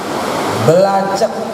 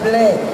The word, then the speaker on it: black: Ada orang baca bahasa Inggris, dia baca belacak salah, tulisannya begitu, kudu dibaca black, kudu nurut sama kaidah grammar Inggris.